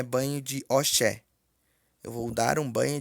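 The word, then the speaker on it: ọṣẹ: Sabonete se pronuncia-se oxé.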